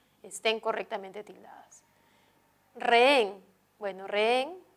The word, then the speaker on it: rehén: correctamente tildadas re bueno rehén es una palabra que es hay un gato la h no cuenta entonces hay dos sílabas hay un gato hay dos sílabas re y al haber dos sílabas puedo decir que esa aguda la aguda que terminen